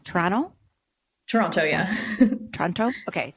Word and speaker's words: Toronto: to say it wrong Toronto Toronto yeah Toronto okay do I say the two T's you know it said that if you're from Toronto you don't say the second te you just say Toronto so you're saying it